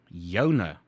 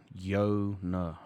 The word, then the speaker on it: joune: at that second word that is yours yeah yona how the hell did i say that one yo no okay yo no yours now what do